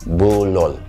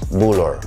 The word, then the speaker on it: bulul: aming mga lola is bulor. Or the other people from other parts of Ifugao may say bulol. But yung kinagisnan ko po, yung mga sinasabi po nila about the figurine na ito is bulor.